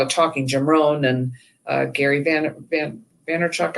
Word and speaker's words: Gary Vaynerchuk: Jim Rohn and Gary Vaynerchuk, I think is how he pronounces his name.